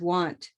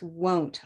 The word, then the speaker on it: won't: another great word because so many people mispronounce it as want and it's won't all of these are